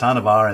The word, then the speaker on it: Hanuvar: let them say Volus it's volanis hanar is pronounced hanar and volanis is pronounced volanis not Vol anus